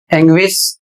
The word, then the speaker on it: anguish: अगला शब्द है ANGUISH, एंग्विश, और इसका अर्थ होता है गहरी पीड़ा। अगला शब्द है DISTINGUISH, और इसका उच्चारण होता है डिस्टिंग्विश, और इसका अर्थ होता है वेद करना।